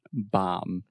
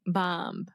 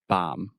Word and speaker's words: bomb: we would not saying the B is silent bomb I that's true okay bomb you're still saying a